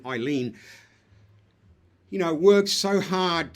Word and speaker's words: Eileen: talks about how uh Elaine um I don't want to get the name wrong here I keep forgetting ien I should say not elain Eileen you know works so